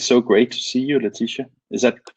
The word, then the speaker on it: Laetitia: um it is so great to see you latisha is that pronounced correct that's that's correct good morning martin